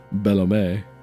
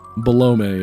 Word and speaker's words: Belome: Actually, my uncle who works at Nintendo says it's pronounced Bellome. It's definitely like baloney, but with an M in the place of the N. Balome it is.